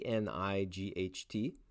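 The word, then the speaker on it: knight: i g HT um which doesn't make any sense right because we pronounce it night but you know at one time it was probably canut right so K N I G HT slowly becomes the word night the spelling unfortunately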